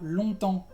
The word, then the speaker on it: longtemps: También tienes la palabra longtemps, que es mucho tiempo. Entonces en esta palabra la G es muda y la P también es muda, cuidado.